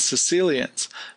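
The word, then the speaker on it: caecilians: salamanders and newts and something called Sicilians but it's spelled kind of odd uh let's look at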